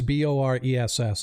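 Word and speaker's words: Boress: his name was Boris that's actually Boris b-o-r-e-s-s if you need to know the spelling but he is bores all right I'll be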